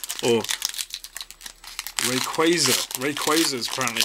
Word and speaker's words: Rayquaza: Let's see what our last booster pack here, featuring Mega Rayquaza, or Rayquaza. Rayquaza is apparently how it's pronounced in the Hooper film that I watched recently.